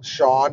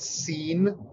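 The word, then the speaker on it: Seán: I also learned way later than I probably should have that it's Sean and not Scene. Again, Irish spelling.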